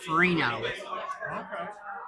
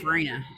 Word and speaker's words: Farina: And they're also starting up the anti-vax, the RFK anti-vax tour with Dave Farino. So if you get or a Dave chance- Farina.